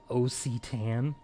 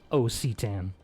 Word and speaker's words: Occitan: I'm supposedly fluent in, is an O and a C would then make an ak sound. So I would not have pronounced it Occitan. For definitely not. I would have put it like a hard C in there. It would have been an ak.